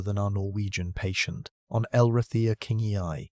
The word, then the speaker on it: Elrathia kingi: On Elrathia kingi, pronounced Lray the kingy eye from the deserts of Utah.